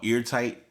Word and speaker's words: Airtight: But there's a single out called Eartight. it's spelled airtight, but it's eartight is the actual pronunciation.